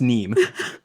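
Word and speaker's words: Nîmes: It's pronounced neem.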